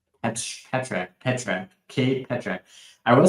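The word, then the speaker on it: Pitrzak: First of all, I don't think anyone was pronouncing his name to be pronounced that way. Uh, P I T R Z A K. I was going with um Peter Zack, which sounds like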